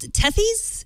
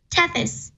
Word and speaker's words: Tethys: And it's called Tethys? Is that how you pronounce it? Tethys.